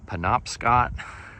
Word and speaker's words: Penobscot: And this is the, I believe it's pronounced Penobscot River, and it heads north up into Maine, going up this way.